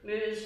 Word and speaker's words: Muse: Note to the minister, muse rhymes with news.